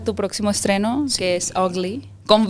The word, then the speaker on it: VGLY: se podría pronunciar pero se pronuncia así como feo en inglés Google qué significa el